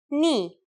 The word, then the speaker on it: ni: The first letter today is a consonant, ni. Yes, pronounced just like the knee on your leg.